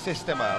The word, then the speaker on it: Sistema: Pronounced Sistema, okay, not Sistema.